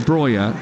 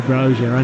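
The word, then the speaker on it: Broja: He plays internationally for Albania, and the reason he wants to be called Breuer is because that's how they say it in Albania.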